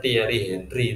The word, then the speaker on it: Thierry Henry: Bukan tulisannya Thierry Henry tapi bacanya Thierry Henry.